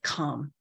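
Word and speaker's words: Kham: eastern tibet in the province of calm which is spelled k-h-a-m if you haven't yet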